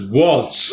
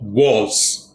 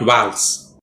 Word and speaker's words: waltz: waltz it's pronounced as waltz although the last letter is a zed is pronounced like an s waltz or walls not vals it's a slow romantic